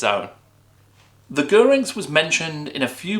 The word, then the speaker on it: Gyrinx: quick note on pronunciation I really thought that this would be something like gyrings or drinks but according to GW author gav Thorpe it's gerings so there you go official